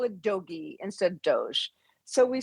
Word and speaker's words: DOGE: and Doge from I I like calling it Dogy instead of Doge Dog. We sued because, you know, it's a hard G. So, let's call it Doggy instead of Doge.